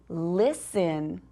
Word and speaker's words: listen: And our last one is listen. Listen. Does that one even have a silent letter? It sure does. We don't say the T. We don't say list in.